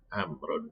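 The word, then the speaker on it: عمرو: Amrun di sini. Nah, Amr ini dia ada wawunya. Ya, dia sebagai penandanya bahwasanya ini dibacanya Amr.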